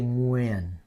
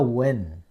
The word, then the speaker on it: Nguyen: u y e n so American people they say when okay yeah not acceptable but it's not quite the Vietnamese way so now but at least you say it correctly when when no win no win okay if you have no